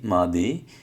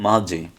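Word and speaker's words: 맏이: তাহলে এটা হওয়ার কথা ছিল মিয়ম দ্বিগুত মা দি, এই যে দ্বিগুতটা এখানে চলে যাবে। তাহলে হওয়ার কথা ছিল মা দি, কিন্তু মাদি না হয়ে এই যে দ্বিগুত উচ্চারণ জ হয়ে যাবে, যার কারণে এটা হবে মাঝে।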